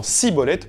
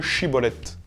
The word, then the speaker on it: schibboleth: la tribu de galade les premiers disant siibolette plutôt que chibolette leur prononciation trahissant leur origine ils étaient égorgés sur